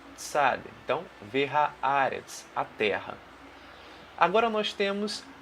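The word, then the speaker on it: והארץ: Bem devagarzinho a pronúncia para você entender. Então, a primeira palavra que nós temos aqui é Vehaaretz.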